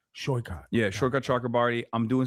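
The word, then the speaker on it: Saikat: How do you so, pronounce his name? Shoykot? Shoykot.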